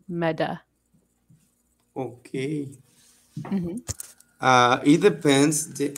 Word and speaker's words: Meta: t words we um often pronounce it kind of like with the d so like meta yeah you want to say meta instead of like mata you let's say meda okay uh it depends